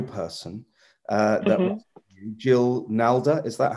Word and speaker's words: Nalder: was Jill Nalder. Is that how it's pronounced? Yeah. Norda.